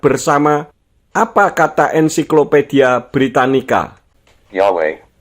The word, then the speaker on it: Yahweh: Yahweh, name for the God of the Israelites, representing the biblical pronunciation Od Yahweh, the Hebrew name revealed to Moses in the book of Exodus.